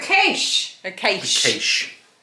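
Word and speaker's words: quaich: It's a cache.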